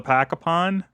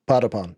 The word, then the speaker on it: Patapon: Well, I I was in and out of Tenma's uh however you pronounce that game. Rataton. Raton. Rataton. The sequel to Pacapon. Yes. Patapon.